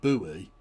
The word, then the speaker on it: buoy: the in in water you have a marker called a boy. Or in American buoy because you're mental. Because we try to pronounce it. But B O Y U. No. B O U Y.